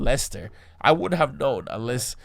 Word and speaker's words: Leicester: That apparently that word is pronounced Leicester. I wouldn't have known unless, you know, like I would have been trying to like pronounce it like Leicester.